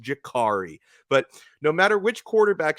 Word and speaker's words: Damari: to tell me I'm pronouncing the young man's name wrong because you it's Jakari why does Dono keep butchering this kid's name